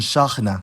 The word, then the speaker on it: شاحنة: The stress depends on the pattern, but to start easy, if there's one long vowel in the word, that vowel is stressed, like in ghazal and shakhna.